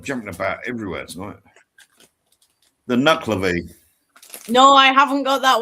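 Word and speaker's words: Nuckelavee: The correct pronunciation is Nuclavy.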